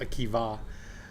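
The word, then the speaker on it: Akiba: because of both around 8100 around 8100 Rabbi AKA okay it's spelled a k i ba a but pronounced AKA decided a new foundational copy of the Jewish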